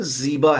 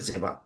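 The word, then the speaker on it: زیبا: रखते हैं बेटियों के, जीबा है असल में वो, उसके माने ब्यूटीफुल के होते हैं। फारसी लफ्ज है जेबा, जो कि हम लोग का प्रोनाउंसिएशन जेबा है, बट जिनकी जबान का लफ्ज है उनके यहाँ जीबा है।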